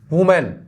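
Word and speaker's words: women: आगे देखिए singular, plural, plural और है ना, देखिए वुमेन, वुमेन का क्या हो जाएगा, वीमेन, क्या है इसको क्या बोलते हैं, क्या प्रोनाउंस करेंगे, वीमेन, वीमेन पर बहुत सारे,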